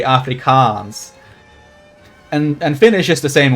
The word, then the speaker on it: Afrikaans: Like, it's a long A, so it has two A's in it because it's pronounced a long A, Afrikaans.